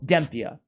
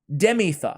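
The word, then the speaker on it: Demytha: going to give it to demphia dem demitha my bad guys i always say her name wrong and you guys always give it to me in the comments now i set it right uh she's a shield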